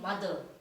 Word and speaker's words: moth: complexity of this languages a moth is not a moth in mother so the word mother the spelling of the word mother is m o t h e r and it is pronounced like mother mother right children but when the m o t h is removed from mother then it is an insect it is called moth it is not called